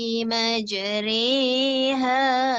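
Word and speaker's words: مجريها: memecah simetris meja bismilahi majreha wa mursaha sekali lagi tolong aneh mulut saya re bismilahi majreha wa mursaha Rihanna jadi bacanya dengan Jadi huruf ro dibaca dengan RI Hadi ulang kartu macam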